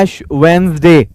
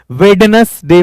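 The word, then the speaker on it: Ash Wednesday: एक और किताब है एश वेनसडे जो आज का दिन है इसको बहुत सारे लोग विटनेस डे पढ़ते हैं मेरे टीचर ने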